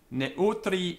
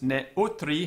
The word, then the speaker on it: neutri: Neutri generis. Notice ne utri has got three syllables.